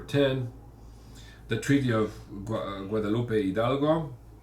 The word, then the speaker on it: Hidalgo: the Treaty of Guadalupe Hidalgo age is silent in in Spanish write in Telugu and